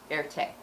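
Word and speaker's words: Erté: So in French, Roman with an R is pronounced air, and the letter T for Tirtov is pronounced te. So he combined it together, voila, Erte.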